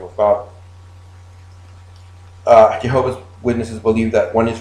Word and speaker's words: Jehovah: differently right look okay in english it is usually pronounced jehovah okay the word jehovah